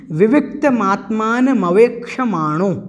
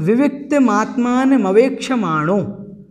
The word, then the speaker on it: विविक्तमात्मानमवेक्षमाणो: विविक्तमात्मान मवेक्षमाणो, इस प्रकार से इसका उच्चारण करना है और अन्यत्र कहीं पर भी कठिनाई नहीं है, आप आराम से इसका उच्चारण कर पाएंगे।